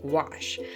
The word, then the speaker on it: gouache: Okay, so today I wanted to do a little segment on gouache. Um, people ask a lot about gouache. Gouache, it rhymes with squash, but it is actually spelled I don't know if you can see that right there.